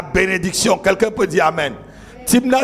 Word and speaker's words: Thimna: Timna s'écrit T-H-I-M-N-A. Timna.